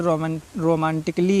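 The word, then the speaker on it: romantically: फिर रोमांटिकली है, इसमें भी ए के बाद डबल LY आया है, इसका भी आप प्रोनाउंस नहीं करेंगे।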